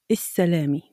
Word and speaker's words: السلامة: السلامة. We have here al tarif, and again, we don't pronounce the lam and we stress the S.